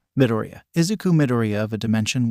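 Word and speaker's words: Midoriya: of the futuristic Dimension pronounced with an upwards inflection on the first syllable midoria isuku midoria of a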